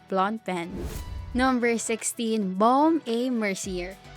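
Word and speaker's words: Blancpain: check your pronunciation or you'll get face laughs if you refer to it as blank pain its pronunciation is blonde pen number 16 bomb a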